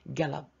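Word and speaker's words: Caleb: 이끌다 리드의 과거지요 우리 갈렙이라고 하는 것 영어 발음이 갤럽 갤럽 take 하면은 쟁취하다 가져오는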